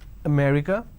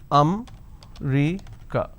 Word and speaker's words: America: and all that now the correct pronunciation is if I have to break it down to syllables Oh may three so there are four syllables or may recur now in northern part of the country they pronounce this as um Rica so they drop a syllable instead of saying America they say I'm going to America for example the word which